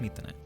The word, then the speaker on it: 3tene: the app we're going to be using today methane yes i know it looks like 13 but it's pronounced meat in it meet the net is a free japanese v